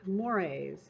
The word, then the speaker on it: mores: have five more mores mores looks like Moore's pronounce it mores the